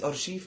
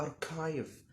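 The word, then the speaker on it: archive: حتى كلمة ارشيف مش ارشيف، كلمة ارشيف مش ارشيف يا جماعة. كلمة أرشيف نطقها أركايف، أركايف، أركايف.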